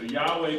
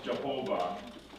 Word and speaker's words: Yahweh: So Yahweh becomes Jehovah in German, which is really not the way it originally sounded, but because of the way Germans translate things and how they pronounce things, that's where we get the name Jehovah.